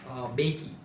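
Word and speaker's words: Mbeki: तो दूसरे थे वो थे थाबो बेकी, जनरली एम साइलेंट होता है यहाँ पर।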